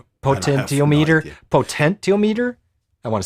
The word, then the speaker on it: potentiometer: Can you pronounce that? No. Potentiometer.